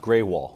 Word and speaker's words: Grewal: It's pronounced Greywall.